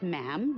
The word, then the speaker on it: ma'am: Um, and after that, it's just ma'am rhymes with J.